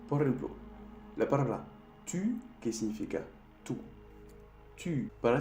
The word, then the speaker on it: tu: Para hacer el sonido U, tienes que hacer un O y de cerrar más un poco la boca.